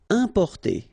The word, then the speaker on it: importer: Importer, okay, IM, then a consonant, so it's the nasal importer, importer.